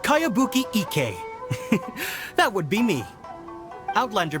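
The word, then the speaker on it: Kayabuki Ikkei: of it by cowabunga icky this is a really strange name who's this cowabunga it's pronounced kayabuki ike that would be me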